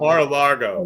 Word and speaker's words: Mar-a-Lago: rate uh margot i always say it wrong mar-a-lago yeah mar-a-lago you think i'd say it right